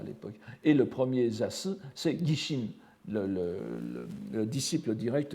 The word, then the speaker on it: Zasu: Alors il y a aussi une prononciation très fréquente au Japon de Zasu, c'est Zazu. Mais évidemment, vous voyez qu'en français, le grand Zazu du Tendai ne sonne pas de la même façon, donc je préfère garder la prononciation Zasu, le grand Zasu du Tendai.